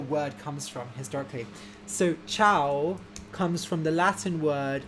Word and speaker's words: ciao: uh it's pronounced like ciao yeah um or zhao would be a better pronunciation it means hello and goodbye in italian i believe and um so that ci in italian is a cha sound so another example would